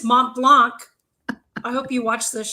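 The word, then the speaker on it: Montblanc: I just got to point that out to the that wrote in to me how to pronounce it. It's Mont Blanc.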